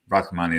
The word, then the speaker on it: Rrahmani: Am I pronouncing that right? Rrahmani. Rrahmani, there we are.